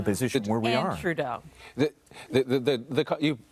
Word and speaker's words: Trudeau: And Trudeau.